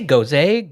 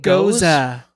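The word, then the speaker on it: Gose: How do you say Goze? Goza. Just channel Goza. Tim Posinger. Goza. Because it's German.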